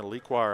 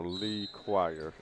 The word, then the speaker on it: Lequire: last name right right got to say it separate you know Lee chire Yes here we go